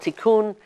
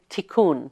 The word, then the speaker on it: Tikkun: And this one is called Tikkun.